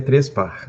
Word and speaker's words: Trespach: Se a gente fosse optar pelo correto, seria Trespar, né? Quase com um R no final, mas é tranquilo, isso